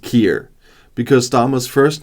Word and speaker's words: Keir: 10 facts about Karma first of all it's pronounced Kier because st's first name is pronounced uh like